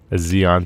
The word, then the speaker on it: Xeon: Did I mispronounce it? Sorry, a Zeon CPU.